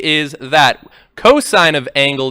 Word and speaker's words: cos: N and cos sin coughs they're actually but they're still pronounced sine and cosine but when you're doing